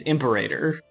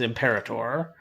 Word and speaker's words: Imperator: it into google okay the american pronunciation is imperator and then the and then the british pronunciation is imperator i see so you